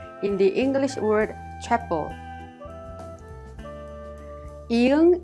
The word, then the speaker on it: 이응: 이응 is silent when used as an initial sound, such as in 아 and 어. When used as a final consonant, however, it has the NG sound like in the word song.